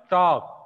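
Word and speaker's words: talk: एक ऐसा ही वर्ड और है, टॉक, टी ए एल के, टॉक. यहाँ भी एल साइलेंट रहता है, डब्ल्यू ए एल के, यहाँ भी एल साइलेंट होगा.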